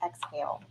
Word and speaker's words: XAEL: XAEL, pronounced exhale.